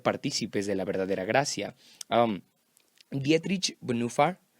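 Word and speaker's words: Dietrich Bonhoeffer: de la verdadera gracia dietrich en ufa así se pronuncian en alemán es un teólogo increíble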